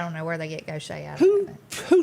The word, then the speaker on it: Gautier: yeah and it's not it does not sound anything like it spelled so that's understandable things